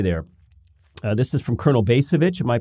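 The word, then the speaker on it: Bacevich: will we stay there this is from Colonel bass of itch am i pronouncing that correctly yes he observed this about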